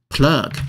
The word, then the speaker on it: plug: 充电宝或插入比如说墙上电（源）那个就是插座怎么说呢这地方介绍个单词英文念作 plug plug 这地方的 u 念作啊的音 plug 我们看一下例句 I usually plug my phone in a wall to charge before sleep.